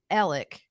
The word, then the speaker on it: Alex: We know people by the name of Alec that is spelled Alex. So it's like Alex. I guess it depends on where you're from in South Carolina, how you say it.